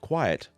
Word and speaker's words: quiet: The word quiet begins with the QU letters and sounds like this, qu, qu. The second part, the I-E-T, it. Let's put that together, quiet.